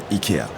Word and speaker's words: IKEA: as well as an IKEA. Yeah, that's how we pronounce it in French, and I guess in Swedish too.